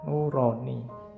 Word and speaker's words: nurani: Terus ya, makanya di kantor itu ada majalah nurani. Itu kan iki majalah bahasa Indonesia apa bahasa jawo? Yao. Kalau bahasa jawo kan bacanya O. Jadinya nuroni atau bahasa Arab.